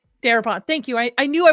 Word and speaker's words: Darabont: Director Frank Darabont. Darabont.